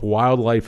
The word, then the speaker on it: Wyldlife: And actually, if you're looking them up, Wildlife is spelled WYLDLIFE. So if you're looking them up, yeah, they're not spelled like like wild, like it sounds.